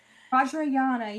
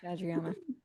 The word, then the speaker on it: Vajrayana: is what apparently was studying this uh weird Vajrayana is that how you pronounce it? Yeah. Vajrayana yeah. Vajrayana.